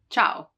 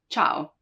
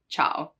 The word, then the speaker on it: ciao: in ciao ciao hi ciao you don't say ciao so it just modifies the hard sound and it makes it a soft sound right not cow but ciao so you know that it's soft like in cello cello